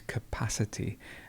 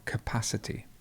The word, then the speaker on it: capacity: next word is capacity notice here how we go from capable with the stress at the beginning to the next word which is capacity and the stress goes right in the middle capacity now we have captain